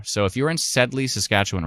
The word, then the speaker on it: Saskatchewan: The reason I say Saskatchewan and not Saskatchewan is because a friend of mine who is a storm chaser in Saskatchewan, she pronounces it Saskatchewan.